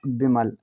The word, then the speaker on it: विमल: हैं यहां पर है बी आई एम ए एल इसे हम पढ़ते हैं विमल वी से बनता है वा क्या वा आई से छोटी की मात्रा लगाई जाती है एम से म अब ए साइलेंट रहेगा एल का मतलब लॉ हुआ विमल अब आप कहेंगे गुरुजी